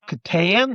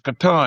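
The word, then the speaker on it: Catan: This thing called Settlers of Katan. That's what we were saying at then. But now the the katan people came to us and said, "You're saying it wrong. It's katan."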